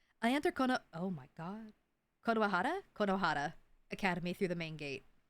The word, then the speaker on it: Konohara: because it's Konoehara because you have to remember the Konoehara.